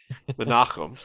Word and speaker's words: Menahem: name because I can never remember how to pronounce it. It is Menahem Golan. Menachem.